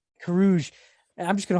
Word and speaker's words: Carrouges: So if you were in Coron's position, Every time you say his name, you say I something change it. different. I know it's Corion, right? Or Coron? Carrouges. Carrouges.